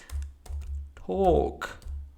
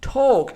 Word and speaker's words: talk: So it's not talk, but it has to be pronounced like talk without the L sound. So don't pronounce the L sound. Talk.